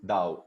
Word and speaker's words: Dao: Pronuncia-se Dao. O T tem som de D na cultura oriental, certo? Chinesa.